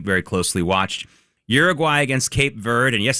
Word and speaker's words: Cape Verde: Uruguay against Cape Verde, and yes, it is pronounced Cape Verde when you say it in English.